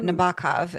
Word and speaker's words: Nabokov: mm, Nabokov is apparently the way you're supposed to pronounce it, oh, isn't it?